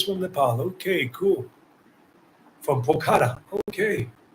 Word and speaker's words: Pokhara: From Pokhara. Okay, Pokhara.